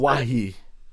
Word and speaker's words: Anoa'i: Anoa'i. Jeff. Good. My pronunciation is corrected, but my point still stands.